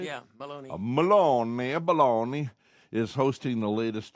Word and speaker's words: Meloni: Yeah, Meloni.